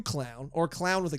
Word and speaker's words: Qlown: It was from a commenter known as Q Clown, or Clown with a Q. Clown. QLOWN. It would be pronounced clown.